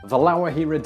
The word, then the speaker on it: La Guajira: This is Colombia… The long and cheerful beaches of Santa Marta, La Guajira Desert [Pronounced: la wha-hee-ra]; the inaccessible Leticia, capital of the leafy Colombian